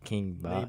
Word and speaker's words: King Bach: like King Maybach, so King Bach.